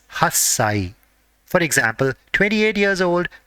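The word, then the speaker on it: 八歳: Similarly, for 8 years old and whenever the age is ending with 8, the part corresponding to 8 has to be pronounced as hassai.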